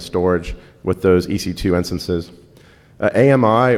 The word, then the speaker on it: AMI: AMI, or I've also heard the Amazon guys pronounce it AMI, is their virtual appliance container format.